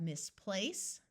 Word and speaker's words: misplace: so here we have misplace notice place is emphasized more than Miss because in English we rarely accent prefixes or suffixes misrule unbind Untold recline